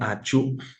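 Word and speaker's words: achu: the northwest region of Cameroon it is called auu it is spelled a c h u so it is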